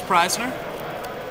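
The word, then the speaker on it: Prajzner: I'm Preisner. Krasner? How do you spell that? It's spelled P-R-A-J-Z-N-E-R. I would have never gotten Krasner out of that. Yeah, it's Polish. The AJ makes a long I sound.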